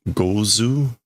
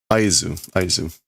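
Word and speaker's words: 合図: Again, gozu. No, it's not gozu. What is this pronunciation? It is signal. Aizu.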